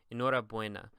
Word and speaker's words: enhorabuena: You may have noticed that I didn't say like enhorabuena or something like that, but the U and the E, whenever they're together, they're basically pronounced as a we, like almost like a W, like where are they